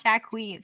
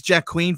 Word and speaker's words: Joaquin: and she's like oh is that how you pronounce this yes not jack wheat so whenever i like i see his name i have to like it's watching not jack queen it's jack queen phoenix so so he's got